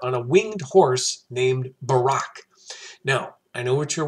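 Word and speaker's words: Buraq: this winged horse named Barack and our former president named Barack okay same sound different spelling it may in fact be phonetically the same name but no necessary connection okay also on this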